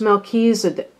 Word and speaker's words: Melchizedek: Oh, they say it's pronounced Melchizedek. Melchizedek is a high priest who is mentioned in the Bible's book of Genesis and many other sources too.